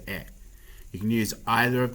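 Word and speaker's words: へ: You can see that it's the hiragana he, but it's actually pronounced as e.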